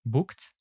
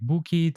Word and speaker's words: booked: regular past simple verbs the Ed ending is usually pronounced t or d for examp example booked arrived we only pronounce the e in Ed when there is a t or a d before it for example wanted ended and so on aha many of you can pronounce it like book it arrive it play it and so on you